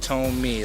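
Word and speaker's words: Thome: tome a it's pronounced tome me like in tow and me you know he was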